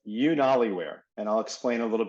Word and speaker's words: UnaliWear: So it sounds like YouTube, so it's UnaliWear, but it's spelled UnaliWear, UnaliWear.